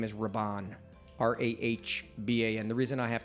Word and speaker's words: Rahban: it said r-a-d-y-r-a-d-y and last name is Rabon r-a-h-b-a-n the reason I have to spell it is because it's ethnic glad you did